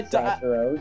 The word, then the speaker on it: Saturos: I can't pronounce it because I don't. No, I. Saturos.